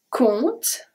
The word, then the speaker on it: compte: Le Canada compte. Le Canada, we saw that. Compte. This one is very interesting. The P and the E are not pronounced.